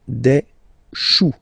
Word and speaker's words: choux: Okay, remember, when you combine this C and H, you get the sound sh. Chou, un chou. Pluriel, des choux.